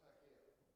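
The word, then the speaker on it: хакер: It's pronounced hacker.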